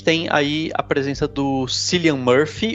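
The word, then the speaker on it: Cillian: presença do clian Murphy eu nunca sei como pronunciar exatamente o nome dele porque é killiam porque ele é irlandês né nome irlandês é sempre mais complicado né então é killiam Murphy isso killiam MURF É isso mesmo eu só sei o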